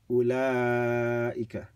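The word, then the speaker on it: أولئك: This is the way you read it. أُولَٰئِكَ, right? The waw is silent.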